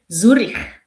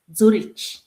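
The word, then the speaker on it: Züri: I cannot even say it in Zurich. Zurich. So in German it's Zurich. Zuri. Do you hear this Swiss German? Zuri.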